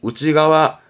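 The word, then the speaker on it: 内側: 측이라고 하지만 일본어는 안쪽 발음이 그죠 안쪽 그래서 발음이 우지가와 우지가와 중요한 단어였고 우지가와 신 내잖아요 몸 아니라고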